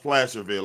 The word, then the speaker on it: Placerville: It's pronounced Placerville. I keep saying the name wrong.